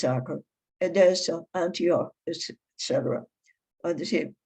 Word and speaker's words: Acre: The relevant place names, Acre, which is spelled acre, like an acre, but it's Acre, Edessa, Antioch, etc.